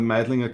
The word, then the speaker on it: Meidling: Angry Diver is from the Meidlinger ghetto. Meidling with L. They have a funny accent. They pronounce the L.